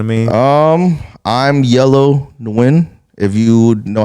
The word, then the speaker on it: Nguyen: know what I mean um I I'm yellow nwin if you know how to spell that uh if your girl gets her nails